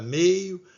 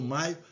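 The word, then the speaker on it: Mayo: Tem gente que fala meio, mas outros pronunciam maio.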